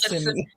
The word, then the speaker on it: Kissimmee: Am I not pronouncing that right? Kissimmee. It's Kiss, Kissimmee.